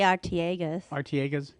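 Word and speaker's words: Artiaga's: you spell it yeah I would say artiagas catering yep anyway it's a Yucaipa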